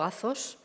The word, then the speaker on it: Athos: Bueno, lo pronuncias muy bien, lo pronuncias en griego, Athos. Yo lo digo Monte Athos, porque aquí es como lo decimos, o sea, que como queráis.